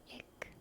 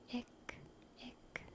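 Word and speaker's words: ich: personal pronoun I I in German it's ick ick and it's spelled i-c-h i c h in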